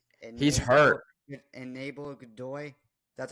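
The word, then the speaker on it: Aníbal Godoy: Just butchers his name wrong. He's hurt. Enable Godoy.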